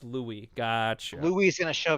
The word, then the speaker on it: Louis: Okay, not Lois. It's pronounced Louis.